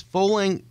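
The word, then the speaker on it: Fowling: 50,000 squ foot space fing rhymes with bowling it's a mash up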